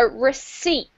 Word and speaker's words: receipt: That's a receipt. There is no P sound, so receipt.